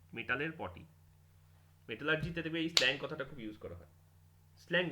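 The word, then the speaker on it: slaking: এই যে আওয়াজটা করছে, এটার একটা সাইন্টিফিক নেম আছে, তার নাম হচ্ছে স্লেকিং অফ লাইম। অ্যাকচুয়ালি স্লেকিং না, স্ল্যাকিং অফ লাইম। উচ্চারণটা হবে স্ল্যাকড লাইম, নট না তো স্লেকড লাইম।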